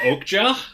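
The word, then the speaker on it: Okja: how to pronounce it is it Oak ja yes all right uh I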